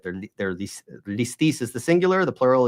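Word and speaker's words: λῃστής: Like, that's just the way that over the centuries it started out maybe as lestes, and then became listis.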